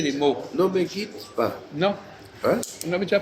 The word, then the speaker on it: ne me quitte pas: Ne me quitte pas. Non, Hein? on avait déjà parlé à la fois. Oui. En français, on ne prononce pas le E.